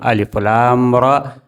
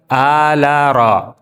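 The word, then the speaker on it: الر: Cara membacanya terpotong, tidak nyambung. Alif, ya, alif lam ra. Tidak dibaca ala ra. Ya, alif lam mim ra. Itu artinya terpotong-potong, bukan ala ma ra.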